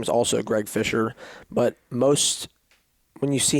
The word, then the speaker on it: Fischer: his name is also greg fischer but most when you see here the name fisher a lot of people don't think there's a c in there obviously the c is silent so a lot of